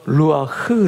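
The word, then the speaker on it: רוח: 도 동일한 단어를 같이 씁니다 이 단어는 바로 루아흐 라는 단어입니다 아직 강하게 부는 바람처럼 강하게 되시지 않고서는 발음할 수 없는 바로 루와 이게 바로 바람 성령 24시 다 라는 단어입니다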